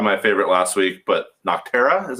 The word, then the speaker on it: Nocterra: that was probably my favorite last week but nocterra is how you say it that was really